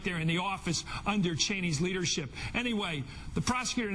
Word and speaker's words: Cheney: Dick Cheney, and that's how you pronounce his name, was out last night